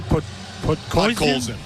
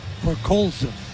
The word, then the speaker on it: Podkolzin: How do you pronounce his name? Podkolzin. Podkolzin.